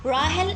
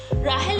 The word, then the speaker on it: Rahel: To pronounce Rahel and Astha, and for spellings is R-A-H-E-L, and Rahel and Astha, E-S-T-H-A.